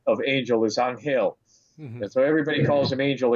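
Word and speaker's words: Ángel: man in in New York his name is on hail dela Cruz everybody says angel but you know he's he's Dominican so he you know he's a spanish-speaking man and their Spanish pronunciation of angel is on hail mmm everybody calls him angel except me I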